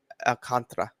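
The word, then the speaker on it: Alcántara: you know, a lot of talk today about Sandy Alcantra. Alcantra is how his name's pronounced and you know, a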